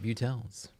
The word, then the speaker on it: Butel: It's kind of like beautiful, but just the first part.